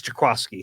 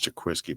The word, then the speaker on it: Jaquiski: And, I pronounced his name wrong apparently the other day, and somebody gave me grief about it on Twitter. It's Jaquaski. Jaquaski. Yeah. Yeah. I didn't know. I thought it was Jaquiski.